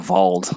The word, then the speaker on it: Wald: It was remember Wald from Crossbell? they pronounce it Vald.